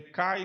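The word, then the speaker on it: καί: é este cai para quem já sabe ler o grego é fal assim le cai na pronúncia erasmiana ou que na pronúncia restaurada então kou que é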